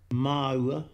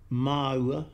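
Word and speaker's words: māua: 그럼 여기서부터는 그 4개의 단어 마우와 마토 그리고 타우와 타토의 원어 발음으로 한번 들어보시겠습니다. 마우아, 마우아.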